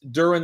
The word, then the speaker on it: Durin: I will say this, Durin, that doesn't rhyme with urine.